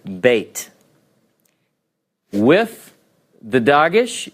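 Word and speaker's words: בֵּית: go oh it's backwards some will call this a vet because it's pronounced as a V and this as a bait because it's got the doggish don't confuse yourself this is the letter Beit with the doggish it's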